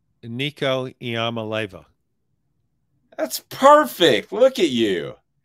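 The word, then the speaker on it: Nico Iamaleava: pike in the heart of halls can you pronounce nico's last name nico iamaleva that's perfect look at you well you know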